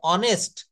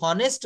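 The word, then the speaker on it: honest: এখানে অনেস্ট my father was এান অনেস্ট doctor. এখানে আমি যদি হনেস্ট বলতাম উচ্চারণটা যদি হনেস্ট হতো তাহলে কিন্তু আমাকে এখানে এ ব্যবহার করতে হতো।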